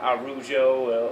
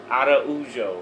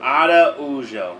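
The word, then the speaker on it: Araújo: And so how do we say it? Araujo. Araujo. Yeah. Okay. That's not how it's spelled though, is it? Well, A-R-U. Yeah, so there's no D. But it's the roll of the R. You got to get that Spanish accent going.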